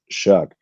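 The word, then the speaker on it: Shough: What is it? Shuck? Shug. I think it's pronounced Shuck.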